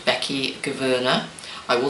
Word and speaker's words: Gouverneur: animal artist called Becky Gouverneur. I will spell that, and I know how to pronounce it right because it's Dutch and I need to get a h in the Gouverneur.